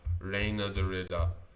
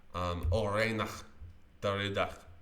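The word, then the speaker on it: Reinier de Ridder: Reina Dorita. Reina Dorita.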